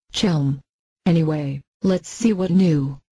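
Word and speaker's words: Chełm: They told me, you have to gargle when you say Chelm.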